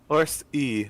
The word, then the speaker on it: Orste: Orst E. The E at the end is pronounced.